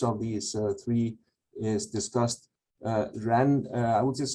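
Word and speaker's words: 人: So the left hand element here is pronounced the same, Ren, but it means human being.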